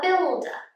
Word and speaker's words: builder: here we have a builder a builder just like hairdresser we use the schwa a builder i'm a